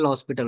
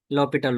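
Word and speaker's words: L'Hôpital: तो हम यूज करते हैं लॉस्पिटल रूल, नाम सुनी हो कभी? नो। No problem. L is silent, sorry H is silent, तो क्या बोलते हैं? लॉपिटल rule. अंडरस्टूड? यस। ये फ्रेंच वर्ड है।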